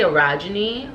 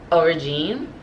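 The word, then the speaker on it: orogene: I want to say orogeny, but I believe that the author pronounces it as origine.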